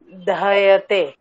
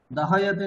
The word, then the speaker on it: दह्यते: দহয়তে, দহয়তে নয় দহ্যতে, উচ্চারণ দহ্যতে বললে সে ফির অকার আ যায়গা ওহাঁ পে।